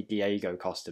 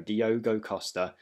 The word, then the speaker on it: Diogo Costa: an absolute beast now every time i say his name i say diego costa but it is diogo diogo costa the portuguese international playing